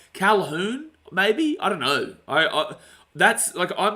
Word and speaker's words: Colquhoun: I think it's Jesse Colquhoun. Calhoun, maybe? I don't know. That's, I'm pretty good with pronunciations. I think the commentary says Calhoun. It looks like Colquhoun, but I'm pretty certain commentary calls him Calhoun.